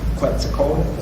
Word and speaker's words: Quetzalcoatl: And what you had talked about was the Christ figure of Quetzalcoatl. Am I pronouncing that right?